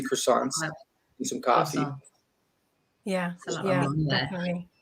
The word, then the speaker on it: croissant: go order like 3 croissants and some coffee. Yeah, definitely. How you say it? I would do croissant. I don't know. Croissant. Croissant. It's like the T doesn't exist.